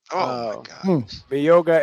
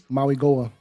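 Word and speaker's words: Mauigoa: Moga and um Moga. How do you say that? Mia. Moga. Maui Goa.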